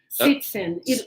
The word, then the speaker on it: citizen: We write with Z, but it looks like the sound is C, right? Citizen. Yes, citizen. So do we have the Z sound or not? Citizen. It looks like citizen. Actually, that's a good thing to think about. So I think some people would say citizen with this S sound, and probably a lot